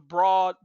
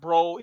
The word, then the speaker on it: Broad: and it was named it's the Broad School of Business, not Broad. It doesn't pronounce Broad; it pronounces it Broad actually.